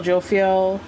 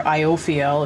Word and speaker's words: Jophiel: upright the star archangel jophiel or iophil if you pronounce it correctly happy times make positive